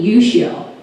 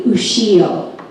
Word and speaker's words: Ushio: But in Hawaii, my name is Ushio, and also in Japan. So there's a different way of pronouncing Japanese depending on where you live, but I go by both ways.